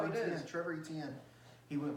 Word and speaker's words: Etienne: Trevor Etienne.